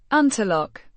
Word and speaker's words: Унтерлок: Unterlok. It would be pronounced similarly to how it is spelled in German, Unterlok, with emphasis on the lok syllable.